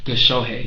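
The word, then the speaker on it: Gichuhi: How do you pronounce that? Gishohe.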